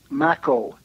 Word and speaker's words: Makow: And then my name is Maco. Maco. Rhymes with tobacco.